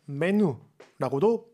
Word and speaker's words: menu: 아다 답타르 마카난이라고 하는데, 답타르 마카난이라고 하는 게 좀 길면 그냥 메뉴라고도 많이 씁니다. 그냥 메뉴인데 발음할 때는 우 발음을 넣어서 메뉴라고 하시면 되겠고요.